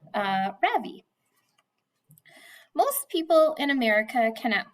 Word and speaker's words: Ravi: It's pronounced Ravi with a soft ra and a strong v, Ravi. In Sanskrit, it means the sun. In America, people call me Ravi with the stress on the first syllable.